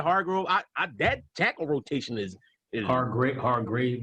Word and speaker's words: Hargrave: Hargrove. Yeah, Hargrove. That tackle rotation is Hargrave, I think it's how you say it. Hargrave.